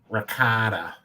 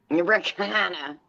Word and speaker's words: ricotta: It's the cheese that you use for baking, and it's some people will say ricotta. Ricotta. It's not ricotta. Ricotta. Oh, ricotta. Ricotta. Okay. Ricotta.